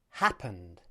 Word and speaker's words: happened: As in the previous example, here the short ah sound also occurs.